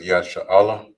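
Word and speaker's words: ישראל: right, so this here is Israel in Hebrew, which is pronounced as Yasha'Allah. You have Yah, Shar, and then Allah.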